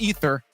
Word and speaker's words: Aether: looked it up and that is just the Latin spelling of ether it's pronounced ether but the team was calling it Aether so we're like well